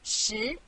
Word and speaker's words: 十: This is its syllable, 十. Repeat after me, 十.